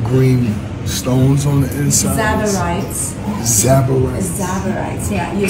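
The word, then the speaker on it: tsavorites: Zabarites. Yeah, you spell it T-S-A-V-O-R-I-T-E-S. Zabarites?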